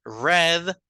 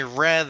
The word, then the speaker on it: read: couple of Books sino lo estoy leyendo con una pronunciación diferente a propósito I read a couple of Books like the color r i read a couple of Books es la misma pronunciación que usaríamos para el color verad I read a couple